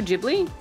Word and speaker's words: Ghibli: are going back and four coming forward ghibli pronounced ghibli okay thank you oh my god grave